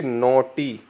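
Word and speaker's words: naughty: हैं कॉज क्या बोलेंगे इसको कॉज इसे बोलेंगे नोटी नोटी इसे बोलेंगे डॉटर डॉटर जैसे ये लिखा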